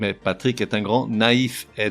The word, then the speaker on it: naïf: Ainsi, on ne dit pas « Patrick est un grand nef », mais « Patrick est un grand naïf », N-A-I tréma F.